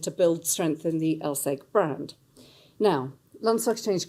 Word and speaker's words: LSEG: pronunciation, as people didn't even know how to pronounce our name. It was LSE Group, LSEG.